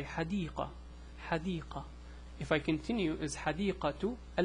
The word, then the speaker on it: حديقة: So this one is pronounced as a T. This one is pronounced as an H, a silent H.